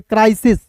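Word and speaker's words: cries: देखिए सी आर वाई रहेगा ना दोस्त सी आर वाई को इसको क्या पढ़ते हैं क्राई और सी आर आई को भी क्राई पढ़ेंगे और ये है यानी कि वर्ब का पहला या पांचवा रूप लगा हुआ है तो इसे पढ़ेंगे क्राइसिस don't D ओ एन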